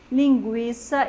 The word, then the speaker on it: linguiça: Eu pronuncio o U e eu pronuncio o I.